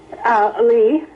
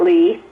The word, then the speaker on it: Lea: Lee. She spells it Lea, but it pronounces it Lee.